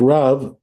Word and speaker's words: Rav: אמרי יברך ברכה ראשונה, like Rav, I'm sorry, I didn't say it right. Not like Rab.